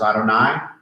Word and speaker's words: Adonai: Okay, when you see Adonai Elohim together, okay, sometimes in the Hebrew, all right, you'll see what we call the tetragrammaton, which we pronounce as Adonai, and Elohim.